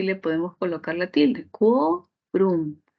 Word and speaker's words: quórum: Quórum, grave, que termina en M, lleva tilde.